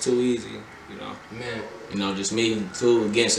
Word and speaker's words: 2K 333Z: Name 2K 333 and a Z, but it's pronounced too easy.